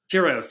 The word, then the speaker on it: Tyr: And you guys have Tyro Tyro OS. Is that how is that how you pronounce it? Tieros. Yeah. The Nordic God of War tier.